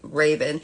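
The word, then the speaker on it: Ravon: uh r a v o n but it's pronounced ra Raven he that is his what he believes is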